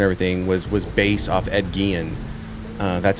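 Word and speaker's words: Ed Gein: whole character and everything was was based off Ed Gillian. Uh, that's how you pronounce it.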